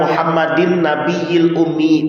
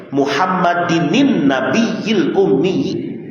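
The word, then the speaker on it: محمدٍ النبيِّ الأمي: Di ujungnya kan ada wa sallallahu ala sayyidina Muhammadinin nabiyil ummi, gitu. Masih banyak orang yang bacanya wa sallallahu ala sayyidina Muhammadin nabiyil ummi, padahal ada nun wasal di situ. Muhammadinin nabiyil ummi. Harus benar itu bacanya.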